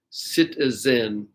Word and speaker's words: citizen: So I think some people would say citizen with this S sound, and probably a lot of people would not say citizen, but of course it's spelled with a Z, citizen.